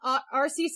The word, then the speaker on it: Arceus: Fun fact, the official pronunciation is Arceus because Arceus has arse in it, which is British for butt.